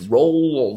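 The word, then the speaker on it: Roald: it up and yeah it's rolled as a silent D so you hear a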